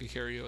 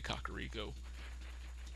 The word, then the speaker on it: Kakariko: I used to call it a Cario as a kid and then somebody told me I was wrong and it's actually a kakariko so we'll find out